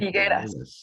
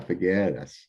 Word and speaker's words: Figueras: Did I pronounce that right? Figueras. Yeah, Figueras, from the Huasteca region.